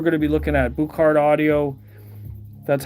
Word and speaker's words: Buchardt: the speakers we're going to be looking at botard audio that's how to how it's pronounced not in this color though I really